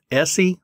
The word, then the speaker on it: ESEE: So you said that was SE knives, is how you pronounce SE, it, but it's, yeah, it's spelled ESEE.